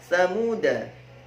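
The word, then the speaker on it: ثَمُودَا: Selanjutnya adalah Thamuda. Hati-hati, 'da' dibaca pendek.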